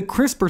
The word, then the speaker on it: CRISPR: It's pronounced like crisper, just like when your mom puts vegetables in the crisper drawer of the refrigerator.